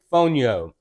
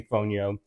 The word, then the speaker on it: fonio: And today we are going to cook basic Fonio. I know I pronounced it Fonio before, but I believe I've been corrected.